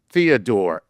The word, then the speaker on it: Theodore: Lord Nice, if you're delivering the question, my name is pronounced Theodore.